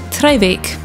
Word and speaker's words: Traigh Bheag: This beach only has a Gaelic name, so here's Ruth to pronounce it properly. Treibeach.